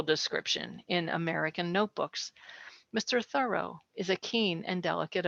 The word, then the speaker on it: Thoreau: surname with the accent on the first syllable like thorough like you're doing a thorough job and that's the way